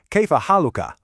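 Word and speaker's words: كيف حالكَ: And if you're speaking to a woman, you'll ask, Kaifa haluki? It's that simple, really. Haluk ah for a man, haluk e for a woman.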